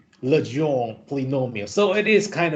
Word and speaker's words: Legendre: I have checked Google pronunciation, and I found that in French, it is pronounced Legendre polynomial. Legendre polynomial.